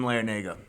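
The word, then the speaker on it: Larrañaga: just like oh I figured out how to pronounce that the coach's name Jim larenago okay Jim Jim had a good run with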